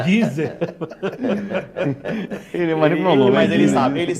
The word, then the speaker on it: Deezer: É Deezer.